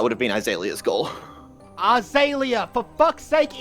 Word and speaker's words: Azalea: Azalea, for fuck's sake, Eli, there is no I. How do you fuck this up every time? I mean, there's literally a Z in there, man. Azalea. I pronounced the Z. Yeah, but you don't pronounce the A.